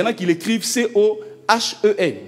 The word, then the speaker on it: Cohen: Bon, il y en a qui l'écrivent C-O-H-E-N. Dans tous les cas, on prononce Cohen.